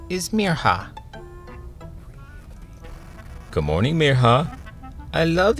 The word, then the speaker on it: Mirha: They stretched out the I until it sounded like an E, and their R sounded wrong. Some people even forgot the H. "Hey Mina." "Miriam." "Merha."